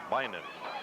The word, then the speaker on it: Bynum: throughout the first half I apologize Bynum is the correct pronunciation and I'm sure he